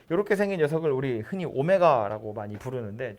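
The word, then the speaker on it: ω: 어쨌든 이렇게 생긴 녀석인데 그래서 이제 문제에서 자주 쓰는 관용어구는 뭐냐면 x세제곱은 1이라는 방정식에 한 허근을 오메가라고 할 때 W처럼 생겼는데 읽을 때는 오메가라고 읽어요.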